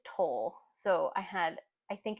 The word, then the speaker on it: Towle: Here is 3 Laufer Towel Magnum uh, though I think it's toll. So I think it's toll. Towle is supposed to be pronounced toll, and I always say towel.